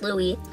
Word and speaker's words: Louis: future son Louie Louie which is spelled Louis but is pronounced Louie Michael my husband's middle